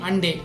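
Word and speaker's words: Hyundai: அடுத்த company ஹண்டே. ஹூண்டாய் motor company பற்றி தாங்க பேசிகிட்டு இருக்கோம். இத்தனை நாளாக நம்ம தப்பாக ப்ரொனவுன்ஸ் பண்ணிட்டு இருக்கோம்.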